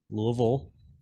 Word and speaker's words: Louisville: Louisville Kentucky and that's how you say it Louisville for anybody that's on the fence that's the correct pronunciation no they uh you know DeVille for